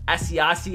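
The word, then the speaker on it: Asiasi: and tied and we have Cole commit and a 74 log s is how you say his name Devon SE hace at a 72 and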